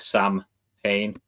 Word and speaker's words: Samhain: Sam, people split it as like Sam Hain, but Okay. the MH in the middle is just W basically. Um, it's pronounced like the letter W.